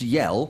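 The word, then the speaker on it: Yael: to do it because it's pronounced yell yell like to scream but it's spelled y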